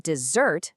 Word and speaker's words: dessert: But dessert, with a stress on the second syllable, is the sweet treat.